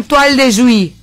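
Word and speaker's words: toile de Jouy: Esto se llama toal de Juy. ¡Aprendan, brutas! ¿Cómo se llama? ¡Ordinarias! ¡Toal de Juy! ¡Ordinarias! ¡Ordinarias! ¿Cómo se llama? Toal de Juy. Que se escribe toil. Toile. Toal es toil.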